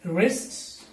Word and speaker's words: wrist: But in the next list of words, letter W is silent. Okay, don't see this word as wrong, so we don't pronounce letter W in all these words.